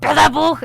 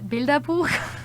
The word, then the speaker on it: Bilderbuch: And it's not called Bilderbuch, it's called Bilderbuch. So yeah, that's it.